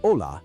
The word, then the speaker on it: hola: Notice how the H in ola is silent. It's pronounced like ola, similar to the ola in wave, but without the W.